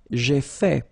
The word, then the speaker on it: fait: J'ai fait. So remember, final T is not pronounced. J'ai fait.